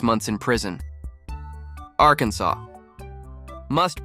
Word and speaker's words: Arkansas: only acceptable pronunciation is in three syllables with the final s silent the a in each syllable with the Italian sound and the accent on